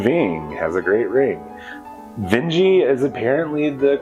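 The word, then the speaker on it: Vinge: uh been referring to the vengies as the veins uh vernerving has a great Ring uh Joan Ving has a great Ring Benji is apparently the correct pronunciation so I'm gonna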